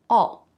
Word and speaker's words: I'll: I will becomes I'll, but I reduced it. All. I'll like fishing. Just like the word all, said very quickly.